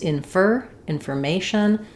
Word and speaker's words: information: Also in the middle, in a word like information, we don't stress on that for there, just like in forget. It's information. The stress falls on the may syllable, and you can think of this as would be better off spelling it with FER, information.